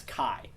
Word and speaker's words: chi: but most I think most people do CH and some people will pronounce it as Kai for kind of similar reasons why people pronounce it as Pi as opposed to P um so if you've